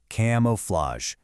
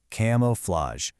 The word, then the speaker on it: camouflage: Then we have a dactyl, which is one accented followed by two unaccented, camouflage, camouflage.